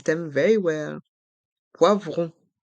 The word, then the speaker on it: poivron: It's a sound to remember and to know how to pronounce. C'est à toi. Épelle ce mot. Bravo, bien épelé. Allez, on épelle ensemble. P-O-I-V-R-O-N.